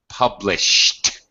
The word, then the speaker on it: published: tense that's good and past tense verbs published it's a t sound published after an sh past tense regular verb Ed will always be pronounced as a t published uh okay well